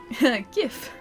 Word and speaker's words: GIF: It's actually pronounced GIF.